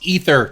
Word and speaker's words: Aether: JJ can put in the Clippy voice saying ether because it's pronounced ether, Jason.